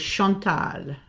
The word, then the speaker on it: Chantal: The way my mother liked to pronounce it was Shantal because it is it is it is French.